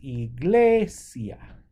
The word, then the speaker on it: iglesia: sigimos Khan foreign pay attention to whether there's an accent on the E the the I or not because if there's an accent on the eye you're gonna your stress is going to go on the eye if there's not the stress is going to go over here so this is Iglesia Iglesia where this is